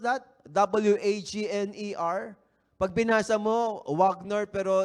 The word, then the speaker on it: Wagner: do you pronounce that w a g n e r Pag binasa mo wagner pero they pronounce that as bagna wagna ' ba w h